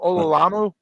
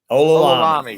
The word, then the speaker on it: Olalami: Olalamu? Did I say that right? Olalami. Yes. Yes.